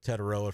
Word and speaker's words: Tetairoa: I know I took Tetairoa from you, but that's because I pronounce his full name. You only say Tet, which his mama does not like.